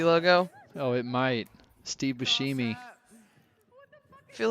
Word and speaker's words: Buscemi: been pronouncing it wrong it is steve buscemi like the sh kind of i'm really dumb it's